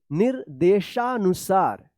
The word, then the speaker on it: निर्देशानुसार: है ना निर्देशानुसार निर्देशानुसार तो क्या है नी के बाद इस रेफ की मात्रा का उच्चारण होगा निर्देशानुसार देखिए यहां पे प्राचीन